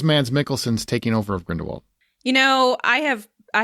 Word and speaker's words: Grindelwald: i saying it wrong it's not grindelwald it's grindelwald that's how they say it i don't know why they say it like that but they say it like grindelwald like vult like we're french or something but it's grindelwald no it's german german oh it's germany